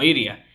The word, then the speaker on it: Illya: inglés, en esa versión se refieren a Ilia con una R, como Iria. El hecho de que en español le digan Ilia se debe a que en la versión japonesa pues así se pronuncia su nombre.